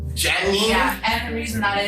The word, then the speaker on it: Jeannie: to go now miss Genie welcome to the show thank you uh I also have to start to say that it's actually pronounced Jenny Jenny yeah and the reason